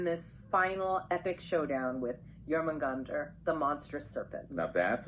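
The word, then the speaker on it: Jörmungandr: And of course, you can't forget about Thor, locked in this final epic showdown with Jormungandr, the monstrous serpent. Now that's a battle for the ages. Yeah. Yeah, Jormungandr.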